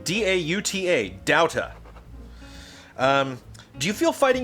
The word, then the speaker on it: Dauta: Brian Dauta, who helped me with that pronunciation. D-A-U-T-A, Dauta.